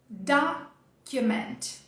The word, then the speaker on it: document: O português vai ter a sílaba tônica aqui, ó. Documento. O inglês vai trazer ela no começo, então é só procurar o tracinho. Achou o tracinho aqui e já vai colocar força nesse primeiro pedaço da palavra.